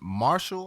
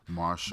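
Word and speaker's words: MRSHLL: want to know featuring marshall i think it's pronounced martial but it's all caps it's r it's m r s h l l all caps it seems like marshalls just without the vowels you know the kids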